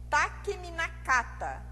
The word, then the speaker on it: Takeminakata: A pronúncia é Takemikazuchi e Takeminakata, pelo controle das ilhas da costa de Izumo.